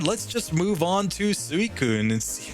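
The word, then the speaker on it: Suicune: supposed to be pronounced if I were to pronounce it in Japanese it would be s Kun because uh that's how you would pronounce that but uh either way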